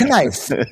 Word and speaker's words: knife: Like knife. Like why is there a K there? There's no K.